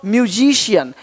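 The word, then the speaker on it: musician: अब देखो यदि सी के आगे आई ए हो तो सी का उच्चारण श होता है।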